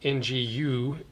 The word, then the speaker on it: Nguyen: And our existing limited edition email list winner is Ryan Gwynn, spelled with an N. Nguyen. Ryan Gwynn.